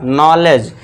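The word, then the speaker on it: knowledge: नॉलेज। के को silent कर देना है। ठीक है? नॉलेज नॉलेज यानी कि ज्ञान।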